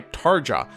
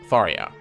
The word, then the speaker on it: Tharja: in the fandom over how her name is pronounced. Some swear by Tarah. Others say Tara. Some say Tara. I say Tharia.